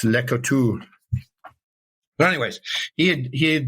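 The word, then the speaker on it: Le Couteulx: So I know the French don't pronounce everything. So it's uh you get here and it's legal talks, but it's French and it's Leotu.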